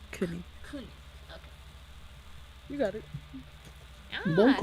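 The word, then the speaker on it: König: How do you pronounce his name? Konik? Konik? Let's see. Yeah, Kunik. Konik.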